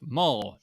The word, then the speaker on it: Maul: Maul rhymes with Paul.